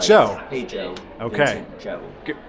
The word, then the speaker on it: Zhou: Actually, his last name's pronounced Zhou. Like, Zhou.